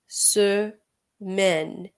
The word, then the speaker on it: semaine: semaine, semaine. সো এখানে MAI এর উচ্চারণ হবে মে, এরপরে হচ্ছে ne, semaine.